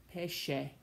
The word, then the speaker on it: pesce: When you see SCE in a word, that sounds like she, scegliere, sceso, pesce.